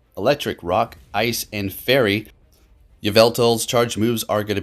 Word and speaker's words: Yveltal: I know, I was saying Yveltal without the L. Somebody said something, so I'll take that constructive criticism and let's say it like that. All right, so Yveltal, 100% IV is going